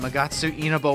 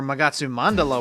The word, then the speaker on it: Magatsu Mandala: And I know I was saying it wrong last time. Magatsu Inaba World. Or Magatsu Mandala World. See, I was saying it wrong right then.